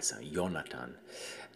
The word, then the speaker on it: Jonathan: hebrew name but uh we pronounce it with the j sound now but if you go to like germany it would be like with the way he spelled it with a y yonatan and uh that's i